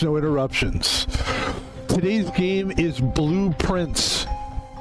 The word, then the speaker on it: Blue Prince: Today's game is Blueprint. It's not spelled like blueprint. It spelled like blueprints because it's a game